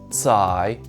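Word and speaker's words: 采: and pulling out the roots this character is pronounced tsai and means pick here's the last character from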